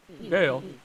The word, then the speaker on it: Gail: havelock who are you dale that's a good name rhymes with sale i used to be